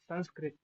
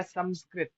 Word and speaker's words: संस्कृत: संस्कृत या संस्कृत दोनों बोलते हैं, अनुस्वार का विभिन्न उच्चारण हो जाता है, दक्षिण भारतीय या फिर संस्कृत भारतीय वाले कर देते हैं, और उत्तर भारत में संस्कृत बोलते हैं। क्या है इसका उच्चारण, तो विभिन्न मत है, विभिन्न मतों को स्वीकार कर लो, संस्कृत संस्कृत दोनों ठीक।